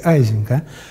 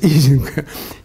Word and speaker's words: Ising: So the Americans say Ising, but in fact it's Ising.